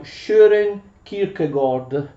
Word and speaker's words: Søren Kierkegaard: conosco il danese qui dicono quelli che se ne intendono che quelle due a si leggono con una specie di o e insomma più o meno inglese il nome del nostro filosofo si pronuncia share e kirk gol per la verità kierkegaard